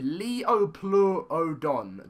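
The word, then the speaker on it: Liopleurodon: This is how you pronounce it, the Leoplerodon. The Leoplerodon.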